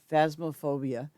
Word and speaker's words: Phasmophobia: Phasmophobia.